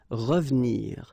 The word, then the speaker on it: revenir: So you've got re and then ve and nir, but then clearly you don't pronounce it, so you get revenir, revenir. Okay, same thing here, appeler,